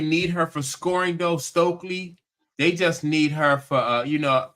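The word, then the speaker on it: Stuelke: Is that how you pronounce that last oh, name, Stokely? Stokely.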